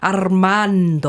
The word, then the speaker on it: Armando: You got to roll your R's a little bit more. Armando.